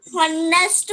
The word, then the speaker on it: honest: And honest man. Honest, honest. How we are not pronouncing honest, honest. We are not pronouncing her sound.